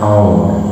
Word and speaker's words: hour: plus now starting with PSI h AI pronounced as h a hospital their homes okay but an hour because edges silent now we will look like